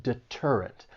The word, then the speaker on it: deterrent: This word has three syllables. The stress is on that second syllable deterrent.